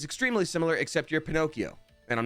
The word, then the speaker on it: Pinocchio: The proper pronunciation is Pinocchio. Pinocchio.